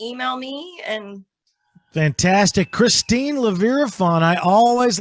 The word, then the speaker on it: Leeviraphan: Christine Leeviraphan.